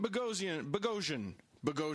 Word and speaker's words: Boghossian: We have Pete Boghossian. Sorry, Pete. He explained to us earlier, listeners, that it rhymes with explosion.